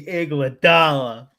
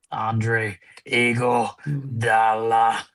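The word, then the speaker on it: Iguodala: Give me Igladala. I'm sorry. If you're gonna say his name, you have to say his name correctly. Andre Eagle Dala.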